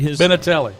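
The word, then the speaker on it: Benintendi: Anyway, Benatelli.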